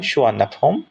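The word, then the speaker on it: สุวรรณภูมิ: সুবর্ণভূমি এয়ারপোর্টে নেমেছে 4:55 মিনিটে বিকাল এবং সুবর্ণভূমি নামটা উচ্চারণ করা হয় সুয়না আপ হোম এবং এটা সংস্কৃত শব্দ থেকে নেওয়া হয়েছে যার অর্থ হচ্ছে গোল্ডেন ল্যান্ড এবং এই নামটা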